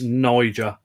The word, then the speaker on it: niger: do keep lassius Niger make sure you pronounce it Niger because the alternative will get you demonetized yeah it's to be